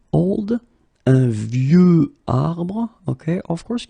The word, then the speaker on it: vieux: And the last one is vieux, old. Un vieux arbre. Okay, of course you've got this X at the end, but you don't pronounce it.